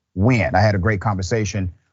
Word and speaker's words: Nguyen: It is spelled Nguyen, but pronounced Nguyen.